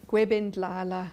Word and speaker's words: Gwebindlala: Hey, I'm here with Nkosi Nosintu Gwebindlala. I'm saying it correctly.